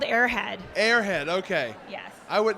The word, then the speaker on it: Aer Head: of our comics here and how do you pronounce this name it's called airhead airhead okay yes I would that was my